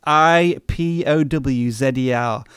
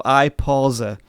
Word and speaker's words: iPauser: I just want to say as well, we got another super chat from iPorers. I think that's how you pronounce his name. It's pronounced IPOWZER. So iPauser.